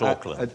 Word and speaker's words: Auckland: Not Auckland. But not Auckland, oddly enough. That's spelled with a C, a little redundant C, A-U-C-K.